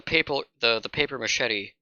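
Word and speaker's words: papier-mâché: Forgot the paper machete, or no, the paper machete. Paper mache. That's how it's pronounced.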